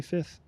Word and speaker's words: fifth: You pronounce the F when you say fifth. You can the F by the F I mean the second F.